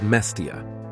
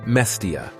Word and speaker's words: Mestia: The center of Upper Svaneti is a village called Mestia. It's a small, high mountain village with a population of 2,500 people. Instead of the Svanetian pronunciation Mestia, it is often pronounced Mestia.